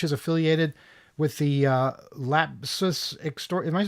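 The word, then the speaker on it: LAPSUS$: this is yeah but how do you pronounce the dollar sign as an S but there's already an S there yeah you pronounce it similar you know I guess according to the letter of the alphabet to which it is most similar yeah but then the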